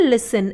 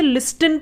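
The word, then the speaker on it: listen: बहुत से लोग इसे लिस्टिन पढ़ते हैं। इसमें जो टी होता है वो साइलेंट होता है।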